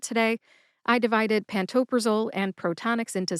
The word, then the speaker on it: Protonix: So, what you do is you have first syllable is pro like proton. The second syllable does not have the n in it, believe it or not. It's ta like t a h t. And the third syllable is Nyx, which is spelled N IIX, but it sounds like the basketball team, the New York Knicks. Put all three syllables together and you get protonics. Emphasize ta.